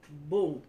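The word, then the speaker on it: bun: It's spelled B-U-N. You say boom. Boom. Boom. Right, so the N doesn't come out there. It's silent.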